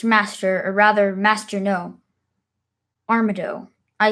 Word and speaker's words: Armado: Arm, Arm, have I been saying Armando this whole time? It's Armado. I've been saying it wrong this whole time.